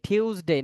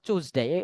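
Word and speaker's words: Tuesday: টিউসডে, নট টুইসডে, কি হবে? টিউসডে, টিউসডে, টিউস, অথবা চুজডে, এমনটাও বলে নেটিভরা।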